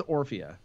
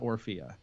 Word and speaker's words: Orphea: no question it is it is or via not or fear it's just some you